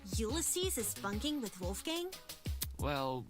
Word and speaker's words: Ulysses: That's how his name is pronounced? Ulysses? Oh my god. I finally know now, Ulysses.